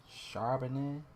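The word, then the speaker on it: Charbonnet: one dude from Seattle Zack shanet that's how you pronounce his name shanet shanet we going against the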